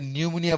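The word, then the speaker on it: pneumonia: যেমন ধরো ওই যে নিউমোনিয়া বানান করো তুমি, নিউমোনিয়া পূর্বে একটা পি দেয়া লাগে না? জি স্যার জি স্যার স্পোকেন ল্যাঙ্গুয়েজে কও নিউমোনিয়া, আর রিটেন ল্যাঙ্গুয়েজে তো পি নিউমোনিয়া কও, তাই না?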